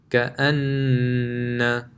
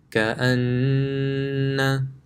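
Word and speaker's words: كَأَنَّ: Anytime you see a meme with a tajweed, so a meme mushaddad or a noon mushaddad, it will be read with ghunna. How does it sound? The examples are here. Imma, amma, ka'anna.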